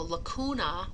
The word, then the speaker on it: lacuna: So lacuna with a hard C means cavity.